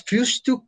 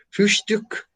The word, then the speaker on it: Frühstück: Ich habe das Frühstück gemacht. Perdón, pronuncié mal. Frühstück.